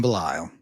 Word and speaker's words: Belisle: and I am honored to have on Jim bile well it's an honor to be here you